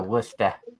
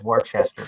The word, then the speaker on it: Worcester: Boston yeah going to wer I know it says Worchester but it's but they pronounce it wer and I've got